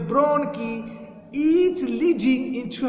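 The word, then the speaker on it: bronchi: सो the trachea ब्रांचेस out into two ब्रोंकी, ये जो word है इसका प्रोनाउंसिएशन है ब्रोंकी, each leading into a lung.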